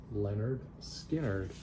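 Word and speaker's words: Lynyrd Skynyrd: copy of Leonard Skynyrd pronounced you know it's pronounced Leonard Skinner so I had to tell people how to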